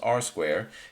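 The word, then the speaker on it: R²: coefficient of determination so simply r square is pronounced r squared and it equals ssr divided by sst okay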